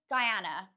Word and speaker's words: Guyana: Guyana, you pronounce it as Guyana.